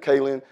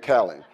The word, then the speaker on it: Kalan: I'm not going to say Teresa, because you asked me this morning how to say my name, and I said Kalan. She got up here and said Kalan. So it's Kalan.